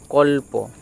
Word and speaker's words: কল্প: বর্ণটি আছে এই ক তাহলে ক এর সাথে উচ্চারিত হবে এবং পটি স্বাধীন আলাদাভাবে উচ্চারিত অর্থাৎ এককভাবে উচ্চারিত হবে আলাদাভাবে এটার উচ্চারণ কি হবে না ক ল কল আর প কল্প ক আর তার সাথে